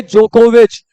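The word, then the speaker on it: Djokovic: पढ़ेंगे नो वक य वाई नहीं होगा जे होगा यहां पे जोकोविच यहां पे डी साइलेंट होता है जे होगा जोकोविच पढ़ेंगे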